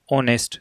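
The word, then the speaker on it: honest: गया फिर है ऑनेस्ट अब देखो इसका उच्चारण होता है ऑनेस्ट तो ओ आ गया ना उच्चारण का पहला अक्षर इस वजह से इसके पहले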